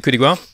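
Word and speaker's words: coup de grâce: So Finn won with the coup de grace. They keep pronouncing the S in coup de grace, by the way, which annoys me.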